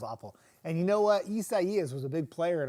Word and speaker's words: Isaias: Isaias has like more syllables than it does letters. Isaias, and everybody kept saying, it's Isaiah, Isaiah. Nope, it's Isaias. Isaias.